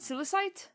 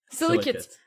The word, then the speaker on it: Silicate: Is it silicite? Silicate. Silicate. Apologies. How'd you spell that?